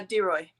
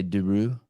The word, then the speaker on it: de Rooy: deroy deroy yeah but people like me want to say deru yeah it's the two o's that get people um it's spelled like it was said the same as uh oh why but in Lane number